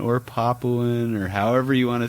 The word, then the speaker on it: Papuan: If you're saying Papayan python, then maybe it would be kind of more humane to correct that person and say it's actually Papuan or Papuan or however you want to say it.